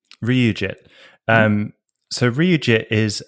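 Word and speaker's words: RyuJIT: a thing called re I don't even know how to pronounce it Reit RIT that's R Yu Ryu jit um so Ryu jit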